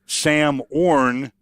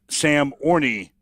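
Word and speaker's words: Samorn: He just wanted to let me know that when I use the story tomorrow morning, that it's pronounced Sam Orn and not Sam Orney, which, would go 50-50 either way.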